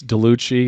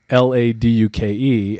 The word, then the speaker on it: LaDuke: Because otherwise it's Delucci, it's Laduke, but Laduke, and I space it. So L-A and then space and capital D-U-K-E, like Laduke.